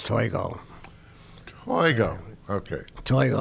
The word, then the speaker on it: Toigo: name is and my last name is toy go there we go okay